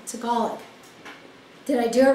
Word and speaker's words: Tagalog: Three syllables. Oh, three syllables. Tagalog. Okay. Which way's right? That's right. Okay. I said it right.